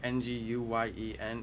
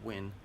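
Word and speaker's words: Nguyen: If you don't know how to pronounce that last name right there, Ng Guy Nen. It's actually pronounced Wyn.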